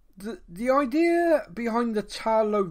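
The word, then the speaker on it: Ta Lo: the idea behind the tarlow village and i'm probably saying that wrong talo i think is how they said it um me and you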